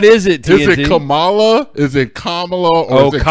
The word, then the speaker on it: Kamala: Because it's Kamala like Pamela. It's not Kamala like the wrestler.